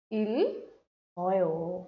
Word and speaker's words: 읽어요: Now followed by a vowel, this will make a sound. Yes, this would be pronounced like 읽어요.